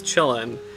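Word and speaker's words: Qilin: And I do think that the correct pronunciation is chillin', but we were laughing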